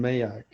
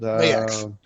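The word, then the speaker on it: Maax: I keep wanting to call him Mayak. You know, what's it called? Mayaks. Mayak. Just think of it like this. It's spelled Max with a double A.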